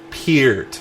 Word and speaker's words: Peart: Peart.